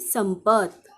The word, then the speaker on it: संपत: त शब्दात शेवटी आहे आणि शेवटी अ चा उच्चार होत नाही म्हणून आपण टी च्या पुढे ए लिहिणार नाही मग संपचं स्पेलिंग काय तयार झालं एस ए एम पी ए टी संपत मंजू मंजू या शब्दाची